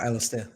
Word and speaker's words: Alistair: Stare. Is that how you say it? Stare. That's a cool name. Well, Alistair. Alistair.